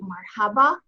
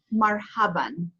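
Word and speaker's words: مرحبا: In general conversation, typically you'll say marhaba, but in classical Arabic, it's actually pronounced marhaban, marhaban. And again, you have tanween fata written over that aleph, marhaban.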